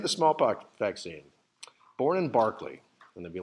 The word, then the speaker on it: Berkeley: He was born in a town that, if you look at it on the page, it's spelled Berkeley, but apparently it's pronounced Barclay in Gloucestershire, which is kind of a fun little thing just to impress your friends.